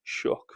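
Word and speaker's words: Shough: Shook which it is pronounced for not many picks.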